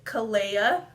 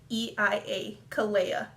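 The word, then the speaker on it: Kaleia: So this name is Kalia, so like Alea but with a K, so I would spell it K-A-L-E-I-A, Kalia.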